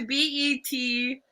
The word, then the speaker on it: Betelgeuse: Is that how you say that big star in Orion? I want to say Beetlejuice because I've seen the. It's Betelgeuse. Juese.